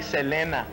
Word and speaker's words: Selena: I know, but I've heard, you know, people say Selena.